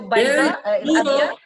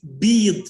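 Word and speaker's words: بِيض: So bayda, there is a plural, but it's a different way of pronouncing, like bead. Not bayd, bead with kasra.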